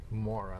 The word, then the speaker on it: Mourra: Do you pronounce it as Mourra or Mourra? More, like, give me some more.